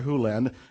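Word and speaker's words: Hew Len: to Dr land but it's actually Dr Hulen if you want to say his name correctly and Doctor Who lens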